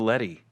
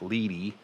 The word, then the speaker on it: LED: it doesn't i thought i always thought it was the letty i know it's weird spell it l e d as in david e letty lee lead is l-e-a-d i see i was